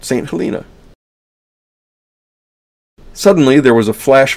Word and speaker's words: St. Helena: Yes, I know there are several ways to pronounce that, St. Helena, and so on, but we're going to pronounce it St. Helina.